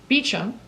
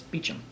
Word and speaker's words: Beauchamp: week it is so there's two ways of pronouncing my name Beechum is the correct English pronunciation in Beauchamp is the correct French pronunciation so today's Friday it's Beecham Meacham okay and I